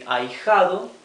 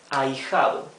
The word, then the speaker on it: ahijado: So the godson would be the ahijado, ending in O, and the goddaughter would be ahijada, ending in A. Notice the H here, right? That is mute, ahijado.